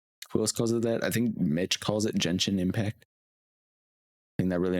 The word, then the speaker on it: Genshin: Hard G is from Japanese pronunciation, whereas there's not really English words with gen that have a hard G. True. I wrote it as Genshin Impact, but I have dyslexia.